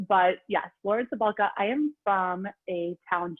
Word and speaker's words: Cabalka: As Danny said, my name is Lauren Cabalka. It's a really hard one. Nobody ever says it right. It's a soft C, like celery, but most people say it wrong. But yes, Lauren Cabalka.